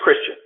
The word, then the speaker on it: Christian: do agree with um chrisan that and am I pronouncing your name correctly Christian it's it's it's it's uh um it's it's Christian it's as though I had religious affiliation got it perfect so